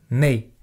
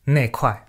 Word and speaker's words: 那块: 那块小石头。那 donc déjà sur la prononciation, des fois on dit nei. En fait, c'est parce que c'est l'abréviation de 那一块. Et quand on le dit vite, ça fait 那块. C'est pour ça que des fois, même quand il n'y a pas le i, c'est prononcé ne kuai, xiao.